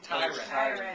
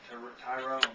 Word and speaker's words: Tyron: Now, how do you pronounce his name? Like Byron. Tyron. Byron Okay. with the T. He told us about 3 times. While you were busy, and then he's like, it's not Tyrone.